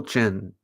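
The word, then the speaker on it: Qin: emperor of china was china was the founder of what dynasty chin is out in front 78 did you know that the q is pronounced like a ch yeah in the um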